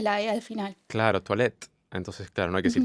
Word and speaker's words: toilette: teyuna y al final lo que no se pronuncia es la aee al final claro toilette entonces claro no hay crisis actual está mal